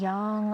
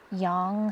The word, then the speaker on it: yang: out so yin and yang are opposite pairs young some people pronounce it Yang and whichever way you pronounce it they are the